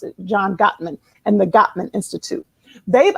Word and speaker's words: Gottman: the right got that mess that's how you pronounce it John Gottman and the Gottman Institute they've identified some of